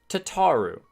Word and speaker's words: Tataru: Tataru? Tataru. Not Tataru? You've been saying her name wrong this entire time, too? Tataru. I don't know that I'll ever be able to swap to that. Tataru. Tataru. It's like, ta-ta for now.